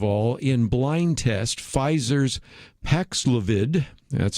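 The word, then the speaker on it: Paxlovid: that first of all in blind test pfizer's paxlavid that's how you pronounce it paxlivid i checked it out alpacs levitt was found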